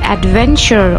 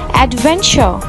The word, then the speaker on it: adventure: In British English, if letter R appears after a vowel sound, it will be silent. So, the correct pronunciation of these words will be teacher, adventure, and important.